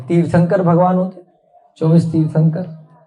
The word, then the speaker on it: तीर्थंकर: जब भी आधे न का उच्चारण, तीर्थ के बाद क्या है, आधा न, क्या है, तीर्थ के बाद आधा न, जब आधे न का उच्चारण आएगा और उसके बाद जो अक्षर आएगा, क्या आया, क, तीर्थंग क, तीर्थंग, ध्यान देना है सब बच्चे, खेलो मत अभी, बहुत ध्यान दो।